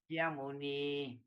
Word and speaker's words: Sakyamuni: Actually, SA is a short A lah. We can put it as apostrophe there. Sakyamuni. Sakyamuni Samahito. Saya Sakyamuni. muni samahito. Okay, you can assume that there's a double K lah. Sakyamuni lah, but actually there's no double K lah.